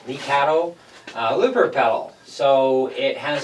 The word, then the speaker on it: Lekato: So today we're going to take a look at the Lekato, that's how they pronounce it, Lekato looper pedal.